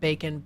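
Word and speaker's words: bacan: Not bacon like bacon, but bacon, B-A-C-A-N, which means to dry by heat.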